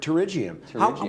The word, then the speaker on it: pterygium: I love this word, pterygium. Where else do you get a silent P in the English name?